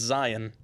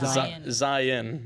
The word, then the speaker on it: Zion: It's Zion, not Zion, not Zion. So just it's a like note. Z-I-N? Zion. Yeah, the way it's spelled. They swallow the O.